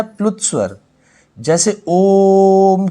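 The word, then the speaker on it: ओ३म्: ये लगे रहेंगे उतनी ही लंबी हमें आवाज खींचनी पड़ेगी जैसे ओम को बोलते हैं हम यहां पर ओम में इस तरीके से लिखा जाएगा तो ओम को बोलते हैं ओम ठीक है इनके उच्चारण में दीर्घ स्वर से भी अधिक समय लगता है और यह जो एक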